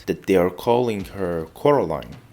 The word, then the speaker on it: Coraline: They call you Coraline instead of Caroline. Not Caroline at all.